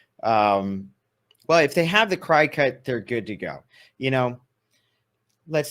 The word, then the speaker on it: Cricut: I'm saying Cricut. It's pronounced.